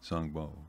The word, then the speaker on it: Xom Bo: in and more specifically the correct pronunciation of that battle song bow okay song bow is the name of it and yeah and again